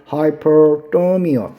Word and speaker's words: hyperthermia: 자, hypothermia하고 hyperthermia 비슷한 발음인데 여기서 R이 있고 없고 해서 두 번째 고체온증 할 때는 R 발음을 더 해주면 됩니다.